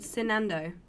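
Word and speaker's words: Cinando: by people nice um there's a platform called sinando it's spelled c-i-n-a-n-d-o i mention it a lot um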